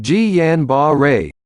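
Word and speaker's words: Guillain-Barré: such as the bladder guillain-barre pronounced ji yan ba ray syndrome is an example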